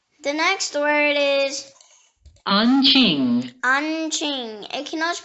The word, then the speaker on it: Anqing: The next word is Anqing. Anqing. It can also be pronounced Anqing. Anqing or Huaining.